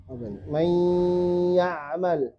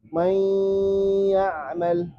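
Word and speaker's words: مَن يَعْمَل: Man ya'mal. Lebur dengung. Nunnya dilebur ke ya, tapi masih tersisa dengung. Man ya'mal.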